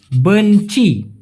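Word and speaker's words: benci: ঘেন্নাকে বলা হয় বেঞচি বিই এন সি আই উচ্চারণটা হবে বেঞচি বেঞচি যেটার মানে হচ্ছে ঘৃণা ঘৃণা আই হেট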